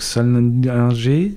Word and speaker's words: Sallinger: Comme on parle d'Amérique, j'insiste quand même sur le titre qui me procure quelques difficultés de prononciation, donc Salinger, mais ça s'écrit avec deux L, hein.